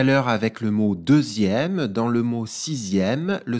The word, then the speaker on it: deuxième: Deuxième. Dans le mot deuxième, on repère au début le nombre 2, D-E-U-X. Le son Z dans la syllabe zia est fait grâce à la lettre X.